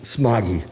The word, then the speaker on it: Smogie: Smogie. Smogie. Okay. Like a smoggy day.